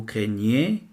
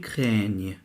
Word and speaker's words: craigne: je crains، tu crains، il craint، nous craignons، vous craignez، ils craignent. كمان نفس الشيء عندنا شكلين. La première forme verbale c'est craint. La deuxième forme verbale c'est craigne. GN en français se prononce ن comme montagne.